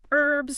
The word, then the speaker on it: herbs: Herbs. Some accents do. Yes. While American English usually pronounces the H, it's just another one of those little markers.